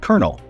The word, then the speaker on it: colonel: As it so happens, there's actually a good reason why the word kernel is pronounced as kernel.